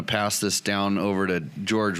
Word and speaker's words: Jorge: I am sitting here with my co-hosts tonight, Logan the talker and George. It's spelled Jorge.